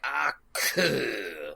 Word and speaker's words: Aku: My favorite thing about Aku is when he pronounces and he puts a lot of emphasis where it's like Aku, like fucking that last syllable. He really lays on it.